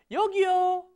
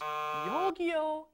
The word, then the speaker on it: 여기요: 여기요. 여기요. Now be careful in that pronunciation. It's not 여기. That's different. Different word. It's 여기요.